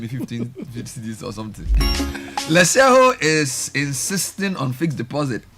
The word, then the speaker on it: Letshego: Join the investment revolution with our fixed deposit solution at Lesheho. Take care of your financial future. Call Lesheho, spelled Letshego. So you can say let she go, but it's pronounced Lesheho.